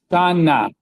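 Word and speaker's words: שָׁנָה: Hey, when it has a vowel of like the sound at the end of a word, we don't pronounce it. Shana, like Rosh Hashanah, Shana. It means year.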